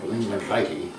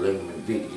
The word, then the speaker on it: lignum vitae: On the other end of the spectrum, you have Lignum vitae, or Lignum vitae, depending on which way you want to pronounce it.